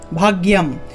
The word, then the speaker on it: ভাগ্যম: এখানে দেখুন একটা অনুস্বার আছে, অনুস্বারের উচ্চারণ হলো ম, যেহেতু অনুস্বার উচ্চারণ ম তাহলে ভাগ্যম।